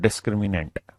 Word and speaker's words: डिस्क्रिमिनेंट: English में बोलते हैं डिस्क्रिमिनेंट। डिस्क्रिमिनेंट, स्पेलिंग पे मत जाना।